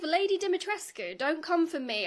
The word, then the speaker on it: Dimitrescu: 5, Lady Dimitrescu. Don't come for me. I looked up the actual Romanian pronunciation. Capcom got it wrong. I'm probably also saying it wrong, but you do pronounce the ending.